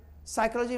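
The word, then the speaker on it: psychology: आप निमोनिया में P silent, साइकोलॉजी में P साइलेंट, ये सारी चीज़ को आप देखेंगे, उच्चारण भी और साइलेंट भी।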